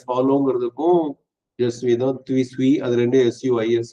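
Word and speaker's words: je suis: அப்ப ஜஸ்விங்கிறதும் ஐஆம்பருக்கும் ஐ ஃபாலோங்கிறதுக்கும் ஒரே ஸ்பெல்லிங், ஒரே உச்சரிப்பு என்பதை நினைவு கொள்ளுங்கள்.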